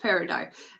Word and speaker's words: peridot: Okay, yeah, I know it doesn't, it's spelt weird, but it's pronounced peridot, and it is about teaching you.